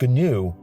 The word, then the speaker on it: GNU: people are going to tell me that it's pronounced new with no g but people who used it extensively back in the day have assured me it is pronounced gnu so that's what i'm going to use one